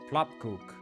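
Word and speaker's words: Plopkoek: The O makes an ooh sound like in book or food.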